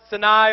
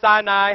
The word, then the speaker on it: Sinai: came down from mount sinai or sinai however you want to pronounce it with two tablets of